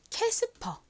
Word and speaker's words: Casper: 되는데요 어떻게 읽으면 될까요 가장 앞에 C 키 소리 나고 a에 소리 나고요 s n 시 소리 스 소리 p 피읍 소리 이은 소리납니다 연결해 보면 casper이 되는데요 한국식으로는 이의 리을 받침을 보통 빼고 쓴다고 말씀드렸죠 그래서 캐스퍼 이렇게 주로 표기를 합니다 캐스퍼이 캐스퍼는 스케이트보드와 관련된